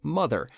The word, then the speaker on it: MTHR: To salvage the dream of colonizing a distant planet, she ordered the use of a machine called MTHR, pronounced mother, which would use passengers